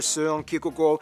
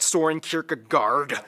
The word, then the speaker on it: Søren Kierkegaard: Hans Christian Andersen, philosopher Søren Kierkegaard, or whether... Pronounce his name? That's actually how you pronounce his name. Wow. It's not Soren Kierkegaard.